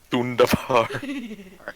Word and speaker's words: Thunderbar: The Thunderbar rhymes with Wunderbar. Thunderbar.